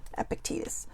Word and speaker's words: Epictetus: 24 of gratitude and i did look up the name if this comes from epictetus epictetus so i was saying it right the whole time but um lately because